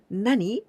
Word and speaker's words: 何: In this case, always with this pronunciation, nani, nani.